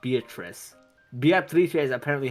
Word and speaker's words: Beatrice: if you remove the O syllable, Beatrice, that's actually how you say the name in Italian, not Beatrice.